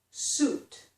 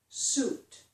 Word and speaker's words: suit: This is suit, suit. Remember, the vowel sound is just oo, the same sound as in boot. Boot, suit.